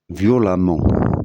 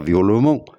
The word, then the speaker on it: violemment: dem e nt et ce e se prononce a comme dans l'exemple qui va venir ou a de M e nt alors exemple violent violemment on dit pas violement et on dit dit